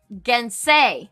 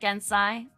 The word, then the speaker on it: Gensei: Oh, it's Gensei, right? Not Gensai. I was saying it wrong on our launch party the whole time, apparently.